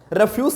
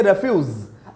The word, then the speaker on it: refuse: अब देखिए सेंटेंस के यूज के according the pronunciation gets changed. अब वहां पर आप रेफ्यूज नहीं बोल सकते। अगर मना करने का सेंस है, डिनाई करने का सेंस है, then you will say रेफ्यूज।